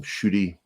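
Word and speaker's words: Ncuti: the Doctor Who um shooty and I was told that that's how it's pronounced I I heard um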